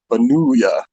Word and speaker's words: Benulia: Yeah, It's I like Dracula, like Benulia, like Dracula, Benulia.